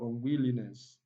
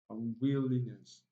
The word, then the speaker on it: unwillingness: Yes, if you look at this word, the first syllable here is a prefix, it's not stressed. And we move on to link. Ing is also not stressed in any syllabic structure.